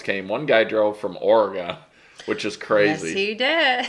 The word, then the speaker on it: Oregon: then new channels came one guy drove from Oregon which is crazy he did Oregon not Oregon it didn't go anywhere that's what